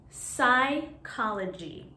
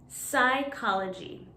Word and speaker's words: psychology: the next one is psychology psychology usually when the letter p is next to a consonant in english it doesn't make the p sound so here the p